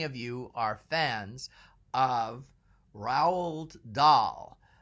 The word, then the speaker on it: Roald: How many of you are fans of Roald Dahl? I don't know exactly how to pronounce his first name. I never did, and I don't think I've ever heard anyone pronounce it. But it's Roald.